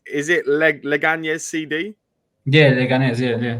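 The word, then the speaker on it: Leganés: this team, but I don't know how to pronounce it. Is it Leganes CD? Yeah, Leganes, yeah.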